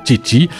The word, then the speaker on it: Chichi: Alors le spectacle, vous êtes donc Ernesto, mais il y a aussi Maria, Carmen, Alfredo et Chichi, c'est comme ça qu'on prononce? Exactement. Chichi, baryton, ténor, soprano ou contre-ténor, 5 chanteurs aussi fous que magistraux.